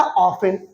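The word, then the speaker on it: often: देना क्या होता है क्या लिखा ऑफ इसको ऑफ्टन लिखा जाता है लेकिन हम लोग पढ़ा क्या था ऑफेन लिखा ऑफ्टन है लेकिन पढ़ा क्या जाता ऑफेन क्यों क्योंकि मैं बच्चों इसमें टी साइलेंट होती है ये साइलेंट का चिन्ह होता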